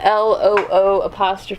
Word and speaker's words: leeward: Yeah, LOO'.